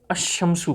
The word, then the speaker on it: الشمس: اور انہوں نے یہ بتایا کہ حروف شمسیہ پہ جب الف لام داخل ہوگا تو اس کو جب ہم تلفظ کریں گے تو جو لام کا تلفظ ہے وہ نہیں پڑھیں گے.